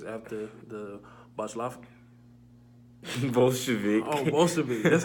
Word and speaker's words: Bolshevik: Oh, Bolshevik.